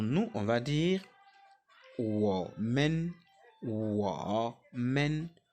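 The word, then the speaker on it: 我们: on va dire men W men W men W men W men le MEN se prononce à peine ce n'est pas ça il n'y a pas de temps hein c'est le temps neutre W men W Men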